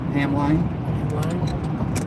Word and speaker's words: Hamline: it's closed for Hamlin Hamline Hamline what the bus says Hamline that we pronounce it Hamlin yeah everybody knows I